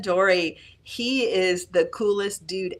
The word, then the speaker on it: Dorey: And I think the pronunciation is Dore? Jason Dorey.